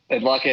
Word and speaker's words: Adlakha: I hope I pronounced your last name correctly. Adlakha, correct? Adlakha is correct.